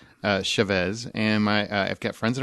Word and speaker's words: Chavez: I've always heard it pronounced Chavez. Huh? I've always heard it pronounced Chavez. There's like three ways you can do it, and it depends on which brand of Hispanic you are.